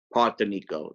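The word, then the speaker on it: Partinico: Partenico, that's how it's pronounced.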